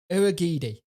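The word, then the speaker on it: Urhoghide: Uragidi.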